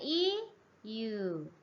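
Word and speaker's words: 言う: Dibacanya iu.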